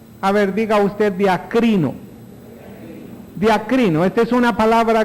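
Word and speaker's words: διακρίνω: una palabra muy importante es una palabra que más o menos se pronunciaría así diakrino a ver diga usted diakrino diaco Esta es una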